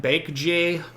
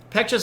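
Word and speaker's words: Baekje: moose you betcha uh the B is pronounced with kind of a almost a halfway between a b and a p though um pure uh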